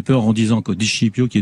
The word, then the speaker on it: Scipio: Christian Di Scipio, votre nom, ça s'écrit S-C-I-P-I-O, donc j'imagine que ça dit Scipio, hein? C'est ça? C'est pas Scipio, oui, c'est Scipio. Normalement, il faudrait dire Di Scipio, mais.